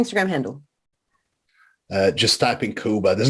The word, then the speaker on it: Kuba: Please don't make the mistake of putting C in. I think a lot of people still put the C, Right. but yeah, it's K. It's just like Cuba, but spelled with a K.